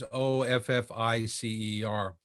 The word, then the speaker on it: Ofissa: First of all, when you hear it, it may sound as though it's written as Officer, but it's spelled Ofissa.